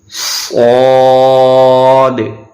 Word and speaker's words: صاد: So we have to pronounce according to the whistle sound as well. So the both rules apply on the one alphabet, which is whistle sound and thicker voice.